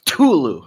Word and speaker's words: Cthulhu: just so we're clear you pronounce cthulhu like tulu like like you're sneezing yeah like you're like